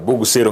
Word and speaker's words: Bogusero: mheshimiwa Vincent Abuga ono MCA kuruaria Bogusero ward Bogusero ngatinero the right pronunciation nigere kitutu chache south na niga ikirese